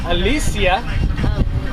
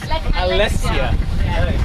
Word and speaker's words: Alessia: And that is Alicia, That's right. half Italian. So she's from like that kind of right. No. How do you say your name? I wasn't even close. Alessia. That's even better. Like Malaysia.